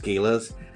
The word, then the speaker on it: galas: And I think I tend to shoot across, a lot, especially when doing galas, or I've been told they're pronounced galas.